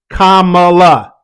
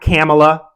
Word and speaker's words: Kamala: not Baka batuka Kamala say it with me everybody Kam whether you like her or not that's her name respect the human being and say her name correctly not camela not Cala is the biggest one her name is not Cala Harris Kamala and don't just